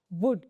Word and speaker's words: would: वुड डब्ल्यू ओ यू एल डी इसमें L silent होता है तो इसको वुल्ड नहीं पढ़ते हैं। इसको वुड पढ़ा जाता है।